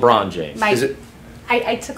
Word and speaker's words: LeBron James: way it's spelled, I thought it was French. No, it's LeBron James.